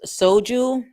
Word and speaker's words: soju: it's pronounced soju.